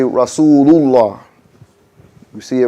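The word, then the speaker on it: رسول الله: Sometimes we say Rasul Allah. We're supposed to say Rasulullah.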